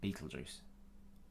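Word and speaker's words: Betelgeuse: anybody pronounce Beetle juu as ble gers it's Beetle Juice it's pronounced Beetle Juice if it's in the notes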